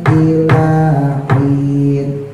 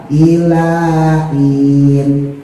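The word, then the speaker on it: إِلَٰهٍ: Ada yang bacanya mungkin maksudnya pengin dipisin saya paham tapi H-nya jadi hilang. Ilain. Ilain. Jadi bukan in ya. H-nya saking tipisnya jadi hilang.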